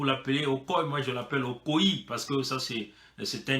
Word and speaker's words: Okoye: Okoye, hein, vous l'appelez Okoye, moi je l'appelle Okoye, parce que ça c'est un nom, il y a le i là, hein, il faut le prononcer.